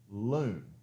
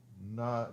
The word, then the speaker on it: Loon: It's Loon. Not no. Okay, so just Loon.